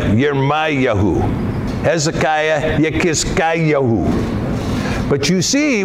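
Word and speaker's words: ירמיהו: Jeremiah, Yermayahu.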